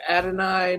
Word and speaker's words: Adonai: go with uh ad what is it ad Adonai Mitchell yeah is that how you pronounce it yep KD Mitchell Adonai Mitchell yep